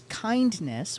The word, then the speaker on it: Kindness: And they said it is kindness without the D.